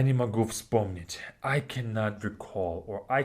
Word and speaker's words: вспомнить: Вспомнить has three consonants in the beginning. FSP. Всп, всп, вспомнить, вспомнить. Like that.